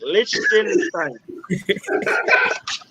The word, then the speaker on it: Liechtenstein: Lich, not lick. Liechtenstein.